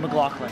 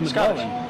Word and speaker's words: McLaughlin: Wait, how do you pronounce your last name? McLaughlin. Scottish. I thought it was McLaughlin. Scottish. McLaughlin. Oh, wow. Okay. I was pronouncing it wrong.